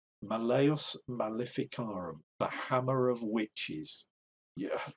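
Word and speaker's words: Malleus Maleficarum: i say malius malifikaram you're going to want to know how to pronounce malayas malificara i think it's malayas malayas malificarum the hammer of witches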